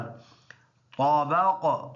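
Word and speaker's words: طبق: तबक़, ता और बा ये दोनों पुर है, तबक़िन है, रुकेंगे दोनों ज़ेर साइलेंट करेंगे, तबक़ बन जाएगा।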